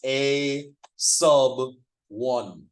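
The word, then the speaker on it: a₁: sub one it's pronounced a sub one um that is said sub because notice where the one is in a sub one it's below the number um in Microsoft Word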